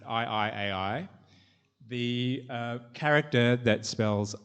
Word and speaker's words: I 愛 AI: Um so the book's called um to pronounce it I I AI.